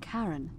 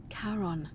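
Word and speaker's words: Charon: is a little off the name you heard wasn't karen it was c-h-a-r-o-n as in caron the ferryman of the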